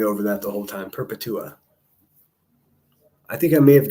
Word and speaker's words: Perpetua: My name is pronounced Peretua. Perpetua. Okay, I got it. Thank you. I do like to say it correctly. I would have just been stumbling over that the whole time. Perpetua.